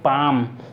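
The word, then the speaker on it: palm: हमारा यहां पर हथेली इसे पढ़ते हैं पाम इसमें रियल साइलेंट है हथेली हंसुली अ हंसुली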